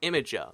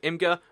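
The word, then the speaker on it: Imgur: so you know IMG that's officially pronounced imager like it's IMG you are but everyone pronounces it imga and so do I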